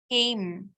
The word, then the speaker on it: came: अब ये क्या होता है, adding the silent E after one consonant makes the vowel long. Came. अभी CAME जो होता है ना, इसमें E है, लेकिन E साइलेंट हो जाता है.